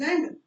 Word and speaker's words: island: Next is Island, it's island, S silent, stress किस पे है?